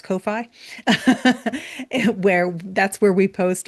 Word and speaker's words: Ko-fi: But we also have our coffee, which we all lovingly sometimes pronounce Ko-fi, where that's where we post all of our articles.